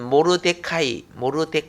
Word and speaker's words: 모르데카이: 원래 발음은 모르데카이. 이 원래 발음인데 그냥 성경에 모르드게 하니까 모르드게 하죠.